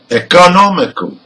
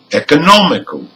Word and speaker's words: economical: Now with rule number 4, also words ending in AL has the stressed syllable third from the end. So let's hear some of them. Number 1, critical. Number 2, economical.